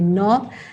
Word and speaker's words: knob: the top this is called as knob k n o v naught and this one is